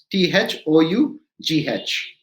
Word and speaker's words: though: u d l h t h o u g h though simple so you think every time o u g h i'm going to spell it pronounce it as o now we come to